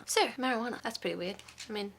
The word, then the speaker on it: marijuana: I mean, it's kind of got a J, but it doesn't sound like it's got a J. Marijuana. I feel like it's got a W. It's spelled pretty weird.